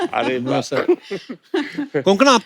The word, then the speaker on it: कोंकणा: और आई am sure अगर आपको कोई पंजाबी मिले, वो हमेशा कंकना बोलेगा। कंकना, कोंकणा, क्यों साउथ में तो कणकणा नहीं भी बोले।